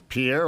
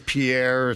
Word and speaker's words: Pierre: do you pronounce it Pierre will get you punched in the mouth and yeah South Dakota how do you say it's too fancy just adds too fancy Pier we just came up